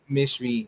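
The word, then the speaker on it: mechoui: I thought it's meshway, or how do you pronounce it? mishui, mishui. Mishwi.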